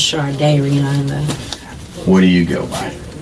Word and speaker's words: Shardayreon: It's pronounced, it's close enough. Yes. Shardayreon. Okay, yeah, Leah Okay. can hear it. It's pronounced Shardayreon.